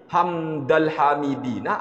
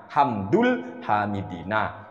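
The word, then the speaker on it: حمد الحامدين: Menurut pendapat saya, sebagai seorang pelajar yang masih awam, pengucapannya adalah " hamdul hamidina." Karena ia memiliki status sebagai fa'il (subjek). Insya Allah yang dimaksud adalah “ hamdul hamidina”, bukan “hamdal hamidin”.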